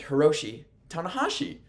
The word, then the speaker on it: Hiroshi Tanahashi: It is Heromu Takahashi and Hiroshi Tanahashi. That's the difference.